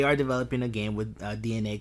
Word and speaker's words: DeNA: with DNA which by the way it's actually pronounced DNA I kept calling them Dena for a long time know your data like